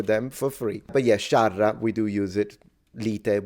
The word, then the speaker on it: sciarra: scerra, lite, No, it's not scerra. That's wrong. It's spelled correctly. It's sciarra. The A is pronounced A, not E.